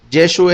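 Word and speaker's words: ישוע: Según Flusser, los galileos no pronunciaban la letra Ain al final de una palabra, tanto como en Inglaterra Cockneys no pronuncia la H al comienzo de una palabra. Es decir, en vez de decir Yeshua, decían Yeshu.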